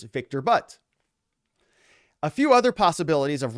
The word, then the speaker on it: Viktor Bout: Remember, there are Russian names, so I believe you're mispronouncing Viktor Bout. The correct pronunciation is Viktor Bout.